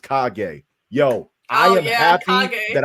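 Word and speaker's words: Kage: actually name your horse cage but it's pronounced kagay yo I am happy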